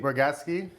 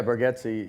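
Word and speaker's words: Bargatze: uncut with jay cutler nate burgawski yeah did i say it right yeah burgetsi yeah gatsy do you still get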